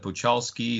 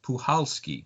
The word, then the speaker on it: Puchalski: I was pronouncing it Puchalski or Puchalski, and they said the C is silent. It's Puchalski.